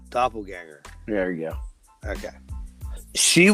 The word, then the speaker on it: doppelgänger: And I said it wrong. It's a doppelganger.